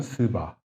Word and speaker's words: 스바: 스바 여왕이라고 있어요. 좀 조심해야 돼, 발음. 스바.